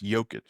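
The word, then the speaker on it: Jokić: Jokic. Americans say Jokic. I know. I know you guys over there in Ukraine. Joker. They say Joker cuz they can't pronounce Joic.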